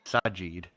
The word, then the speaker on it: Sajid: There's no N. It's Sajid. I'm Sajid. saying because it's easier for me to pronounce it.